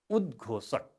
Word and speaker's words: उद्घोषक: उद्घोषक उच्चारण हुन्छ उद्घोषक। उद्घोषक 3 अक्षरले बनेको शब्द हो।